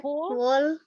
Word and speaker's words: whole: Already eaten That whole W-nya silent.